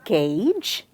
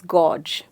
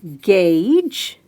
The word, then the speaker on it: gauge: This word is gauge, and it's not pronounced as gauge. A lot of us do that. Now all you have to do is remember, say it as gauge.